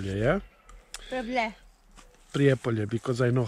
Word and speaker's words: Prijepolje: a couple of things about our trip in prepay yeah pre-apollo because i know how to say it okay